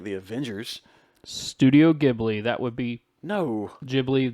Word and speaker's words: Ghibli: I like it everybody likes gibblies not everybody I hope I'm saying it right too Ghibli you don't even know how to say it